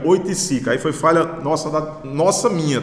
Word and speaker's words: Oiticica: Além de Lígia Clark, é do Hélio Oiticica, faltou uma sílabazinha aí, depois que eu percebi. Não é Oitica, Oiticica.